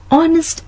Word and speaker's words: honest: The words are and honest begin with the letter H, but the H is silent. Therefore, we say an are an honest man.